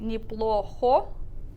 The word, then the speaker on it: неплохо: So instead of saying неплохо, we reduce that o to an a.